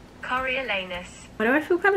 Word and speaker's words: Coriolanus: So I thought it was Cornelius. Is that how Cornelius is spelled? I'm gonna Google how to say his first name. Coriolanus.